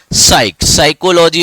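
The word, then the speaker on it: psychology: सइकोलॉजी आपने पढ़ा होगा। स में पी रहता है साइलेंट।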